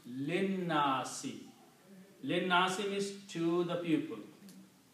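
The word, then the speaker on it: لِلنَّاسِ: So, and this alif is not pronounced now, so it becomes linnasi.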